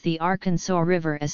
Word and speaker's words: Arkansas: representing the sound it should be pronounced in three syllables with the final s silent the a in each syllable with the Italian sound and the accent on the first and last syllables the pronunciation with the accent on the second syllable with the sound of a in man and the sounding of the terminal s is an innovation to be discouraged purchased by the United